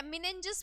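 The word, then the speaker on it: meninges: ठीक है, मिनेंजिस बोल दो, इसकी प्रोनाउंसिएशन अलग अलग आती रहती है।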